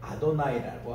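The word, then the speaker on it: אֲדֹנָי: 근데 사실 주님이란 발음이 따로 있거든요. 그게 이제 아도나이라고 합니다.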